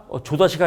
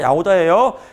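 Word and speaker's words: Jahoda: 얘 묵음입니다. 조다시가 아니라 야호다예요.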